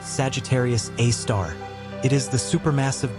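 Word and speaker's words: Sagittarius A*: In the very center of that void lies Sagittarius a asterisk, pronounced Sagittarius A star.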